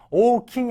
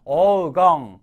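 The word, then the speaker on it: 黄金: 주시면 되고요 황금 와 황금 땐 오킹이 아니라 오공 어공이라고 읽어 주셔야 돼요 시험 문제도 잘 나오고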